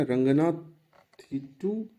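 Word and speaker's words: Ranganathittu: कर्नाटक में चलते हैं, कर्नाटक एक ही है, ये भी लेटेस्ट एडिशन है, और रंगा, इसको हम लोग चलो, वैसे एक्चुअल प्रोनाउंसिएशन हो जाएगा रंगनाथिटू बर्ड सेंचुरी, BS मतलब बर्ड सेंचुरी, ठीक है।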